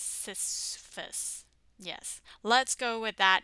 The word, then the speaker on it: Sisyphus: new K-drama with a rather strange and awkwardly pronounced title. Sisyphus. Sisyphus. I'm pretty sure it's Sisyphus.